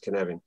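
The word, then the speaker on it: Cynefin: it's sort of spelt cyan offend but it's pronounced canary um and it turns out that it's hugely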